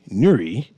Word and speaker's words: Newry: And once again, this is Nuri. And I shall be your host for the day. Just making sure Nuri is pronounced new and re. It ain't that hard. You blend the words together.